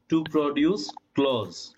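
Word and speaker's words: clothes: আপনি যখন একসাথে বলতেছেন to produce ক্লোজ to produce ক্লোজ ঠিক আছে অর্থাৎ আমরা যেটাকে ক্লোজ মানে বন্ধ বলি সেই ক্লোজ উচ্চারণ হবে এখানে আমি কি বুঝাইতে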